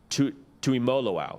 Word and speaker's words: Tuimoloau: to make sure I commended you on the pronunciation of to to emoloau is that is that correct am I am